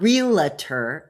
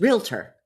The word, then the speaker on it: realtor: The first one is real letter. It's not real letter, it's realtor. Look at how it's spelled. Pay attention people.